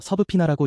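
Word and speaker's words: subpoena: 서브피는 법률 용어로 법정에 나오라고 강제로 명령하는 문서를 뜻합니다. 발음이 좀 독특해서 서부피나라고 읽어요.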